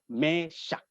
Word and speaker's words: Mesakh: Mesak dalam bahasa Aram atau Ibrani, bacanya juga Mesak.